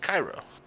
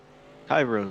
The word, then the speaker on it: Cairo: last name is pronounced cairo cairo so just like the uh capital of egypt there oh yeah yeah